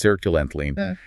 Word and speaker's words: sertraline: Sertraline, pronounced Sertraline, and its brand name, Zoloft.